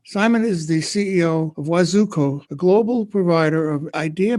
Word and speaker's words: Wazoku: So Wazoku, as it is pronounced, it's a concatenation of two Swahili words.